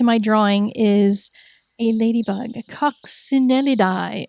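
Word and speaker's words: Coccinellidae: Coxinellidi, according to some Italian guy on YouTube who pronounces scientific words for people like me who don't know how to say them. So, Coxinelli is what he says.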